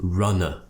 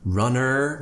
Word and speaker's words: runner: is very important runner because we're finishing with the schwa sound but lots of my students pronounce it as runner with an ER like it more of an American style or they might do runner where they pronounce it with more of an act sound but the key is neither of those sounds you just need to relax your tongue in the middle of your mouth open your mouth a very